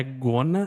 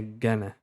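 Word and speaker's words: gonna: Não é gona, aqui é Gana.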